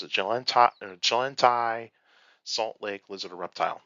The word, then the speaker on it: Chilantai: English, probably was like, I'm going to spell it with a CH instead of a J, because I know some people are going to sound it with a J instead of like how we pronounce it.